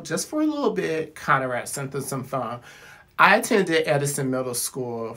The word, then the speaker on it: Konerak Sinthasomphone: We wanted to learn his name so bad, like how to pronounce it correctly. And we kept repeating it after he told us, Konerak Sinthasomphone, Konerak Sinthasomphone, until we got it correct.